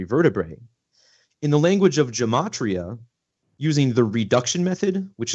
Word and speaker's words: Gematria: it was, called Gematria, otherwise pronounced Gematria, which is actually the correct pronunciation. We pronounce it Gematria for the most part.